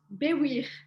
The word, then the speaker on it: Baiwir: Can I get a pronunciation on your last name? Yes, sure. Good luck. It's it's Baiwir.